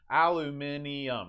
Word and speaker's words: aluminium: they can possibly be aluminium that's five syllables aluminum or in west